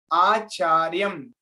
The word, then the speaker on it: acharyam: way acharyam acharyam acharyam but the correct pronunciation is acharyam you have to read like this and then upasangamya here